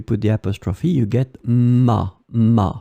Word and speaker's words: m'a: the apostrophe, you get ma, ma phonetically. It's exactly the same sound, ma and ma.